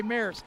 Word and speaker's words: Maris: say Paris France yeah just drop the p and put an M that's how you say Maris here's cadle going in